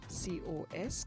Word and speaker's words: cos: sine for the cosine we have a shortened version which we pronounce c-o-s cos and for the tangent